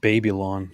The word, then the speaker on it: Babylon: It's actually pronounced Babylon, so just so you know.